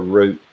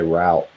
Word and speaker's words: route: get caught with it we pronounce it as root okay yeah a lot of rock climbers here if they're from the west they'll say the word root but typically southerners say route and i don't know